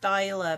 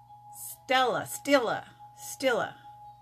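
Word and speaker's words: Stila: This is, I thought it was pronounced Styla because it's spelt S-T-I-L-A. And someone said it's Stella or something like that. So I've been saying it wrong all this time.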